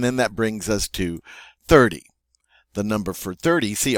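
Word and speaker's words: trente: 30 is 30. 30. So we have this nice EN sound, en. We get to pronounce the T because it's followed by an E. So it is 30.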